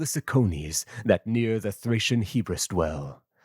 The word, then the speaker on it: Hebrus: Let's also just check the pronunciations of these. Cicones, Thracian Hebrus Hebrus? Hebrus.